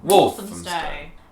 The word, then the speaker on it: Walthamstow: Walthamstow. No, it should be It's not a ham. First one. Walthamstow.